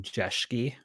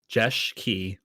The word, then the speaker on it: Jeschke: I am Jeschke. That's how you say it. It's Jeschke, and I am your hungry host, so to speak, for the stream that we're doing today.